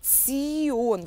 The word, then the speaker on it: -tion: например иор понятно Да здесь аккуратно произносим Цион вот как будто цирк цыплёнок звучание этого суфикса аффикса